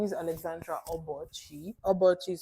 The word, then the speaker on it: Obuchi: First of all, my name is Alexandra Obuchi. Obuchi is spelled O B U C H I.